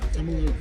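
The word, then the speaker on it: Tumalo: We are at, how do you pronounce it? Tamalo. Tumblo Creek.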